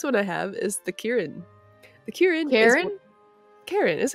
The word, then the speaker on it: Kirin: So this it's spelled Kirin. Okay. Yes. So it'll get Kieran. Kieran. Kieran.